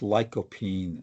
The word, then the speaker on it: lycopene: right the the uh I think it's pronounced lopine uh uh at least that's the way I pronounce it but uh sometimes the pronunciation in UK and United States is a little bit different uh but um but